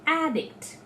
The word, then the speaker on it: addict: i tell uh addict he is an addict so what am i doing i'm putting the stress on air and not dict but if i tell he is addicted to drugs so i am shifting the stress from ad to date so finally what i